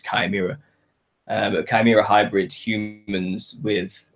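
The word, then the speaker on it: chimera: don't I'm not supposed it's not pronounced chimira if that's what you're getting on it is kimira but chimira hybrid humans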